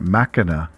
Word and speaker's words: Machina: I call it Machina, the CH being like a K, Ex Machina.